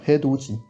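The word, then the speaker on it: 해돋이: Bon, c'est pas un mot très commun, mais petite particularité de prononciation. Donc c'est bien Hedoji.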